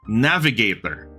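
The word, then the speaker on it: NAVGTR: the channel okay the channel is called Navigator but it's spelled n-a-v-gtr which is apparently a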